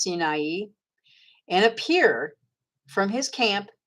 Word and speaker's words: Sinai: They say Sinai, but it's actually pronounced Sinai, and appear from his camp, and appear in the strength of his might from the Shamayim of Shamayim.